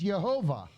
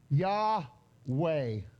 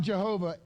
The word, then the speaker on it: Yahweh: If you put a V in it, it's Yehovah. If you pronounce the Vav as a V. If you pronounce the Vav as a W, it would be Yahweh. Okay? It's not Jehovah ever.